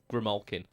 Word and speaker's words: Grimalkin: That was the Ritual Devices Grimalkin, which I've been calling the Grimalkin for so long, but your pronunciation is absolutely spot on.